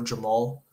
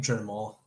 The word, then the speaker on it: Jermall: I think it's either gonna be Pereira later into the fight or Jamal. Or is it Jamal? What Is his name Jermall?